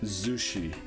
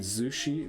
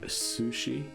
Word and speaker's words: Zushi: going to name it Zushi we already know that with a zed so it's Z not sushi Zushi I don't know again